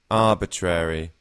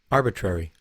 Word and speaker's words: arbitrary: And in American English, it's actually a bit shorter, arbitrary. So again, I tend to personally lean a bit more to the American version of pronouncing this here, arbitrary, rather than arbitrary.